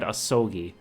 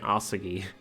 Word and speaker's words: Asogi: But then I, forget what they said out loud, because I'm pretty sure they said Asogi, but I've been pronouncing it Asugi.